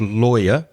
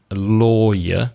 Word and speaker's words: lawyer: said in episode 48 be careful with the pronunciation of lawyer l aw ye our lawyer not liar which is L i8 are those